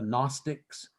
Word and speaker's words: Gnostics: The Gnostics starts with a silent G.